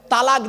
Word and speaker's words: তলাক: আবার বলো না, শব্দটা কিন্তু তালাক নয়, মনে রাখবেন, শব্দটা কিন্তু তালাক নয়, শব্দটা হলো তলাক। কি বললাম? তলাক। ওর আরবি উচ্চারণ কি? তোয়েল আমারিফ কফ, বাংলা উচ্চারণ কি? তয়বায় লয়াকার ক।